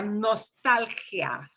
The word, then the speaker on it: nostalgia: Pero se pronuncia nostalgia. We've got to have that, yeah, nostalgia.